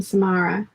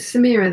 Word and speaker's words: Samara: don't answer to them everyone has always mispronounced my middle name samara is it samira then i had a